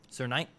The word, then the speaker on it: Knight: Sir Knight. Sir Knight, yeah. You're right. The K is silent.